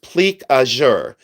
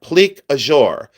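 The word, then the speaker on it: plique-à-jour: goes completely through that pleure glass and it's pronounced ple aure and it's spelled p l i q u e e space a space j o u r ple azour ple azour enamel and it is a French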